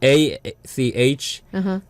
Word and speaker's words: Achim: The Korean pronunciation, so it's like ACHIME. That's Achim. right. Although when I first started, I thought it was Achim. A chime. Yeah. That's how you pronounce. How you're supposed to pronounce.